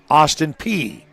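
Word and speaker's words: Austin Peay: It's pronounced Austin P and that's in Clarksville, Tennessee.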